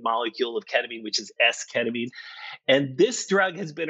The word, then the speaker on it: esketamine: Talk to me a little bit about your research with esketamine.